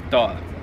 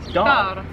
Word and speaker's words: dal: Song is doll. Doll. Oh, doll. D A L. D A L. Yeah. Doll. Doll. Doll. Just doll.